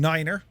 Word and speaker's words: niner: If you notice the pronunciations, 0 isn't necessarily 0. It's they say it faster. It's like 8. 8 isn't 8. It's actually H, right? 9 being niner. 5, fife. It's how you get all the...